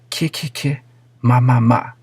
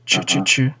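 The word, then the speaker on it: ki ki ki, ma ma ma: get a little angry but it's kicking my mama as in killer mommy not choo-choo-choo hahaha so you know some people they still say it wrong but whatever it's all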